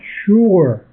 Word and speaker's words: sure: You need someone to pronounce a word for you, because sure, the S is pronounced like an SH sound.